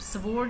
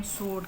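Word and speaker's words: sword: द सोर्ड fell from his hands, the सोर्ड, स्वॉर्ड नहीं कहते हम, सोर्ड कहते हैं, सोर्ड, डब्ल्यू इसमें साइलेंट है, सोर्ड। द सोर्ड fell from his hands, तलवार उसके हाथों से गिर गई, सोर्ड, इसमें डब्ल्यू साइलेंट है।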